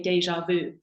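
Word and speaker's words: déjà vu: say it more frenchly uh with the French pronunciation um so in English we say deja vu um and you can say that to a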